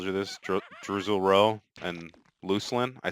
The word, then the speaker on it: Luclin: place where people could decide how things were pronounced. So, there's two moons, I've told you this, Druzel Row and Lucelin. I say Lucelin, but I've heard some of the developers call it Luclin.